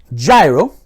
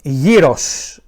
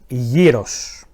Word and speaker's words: gyros: To all of you that call this delicious-looking piece of food "Gyro" and that's for you as well Gordon Ramsay, the proper pronunciation is "Gyros". "Gyros".